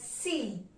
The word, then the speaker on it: six: So the number 6 is pronounced in French as C. Even if the spelling is same as English, the pronunciation is C.